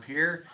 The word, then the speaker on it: Pierre: for somebody I mean Pier of course just pronounced that way it's spelled the same way as Pierre a very popular name